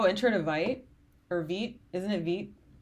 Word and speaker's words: Vite: Oh, enter in a vite or vit. Isn't it vit? I pronounced it vite my first few times learning about it and then found out it was V through Theo.